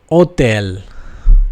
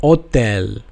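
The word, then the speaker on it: hôtel: is pronounced Ash and it is always silent in French okay so for H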